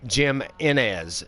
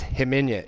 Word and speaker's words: Jimenez: literally any cause uh people that are naming men as Jim Jim Inez Jim Inez when it's hemenya Jimenez because you know they pronounce j with a yeah so they got